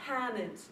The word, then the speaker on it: Hammond: Hammond. So that might sound really weird to your ears if you're from around here, but that's actually how that short A ought to be pronounced.